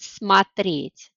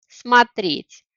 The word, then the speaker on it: смотреть: Ударение в глаголе может иметь разные разную позицию. Например, в глаголе смотреть. Я смотрю, а дальше мы говорим о смотришь, смотрим, смотрите, смотрим. Итак, на этом слайде вы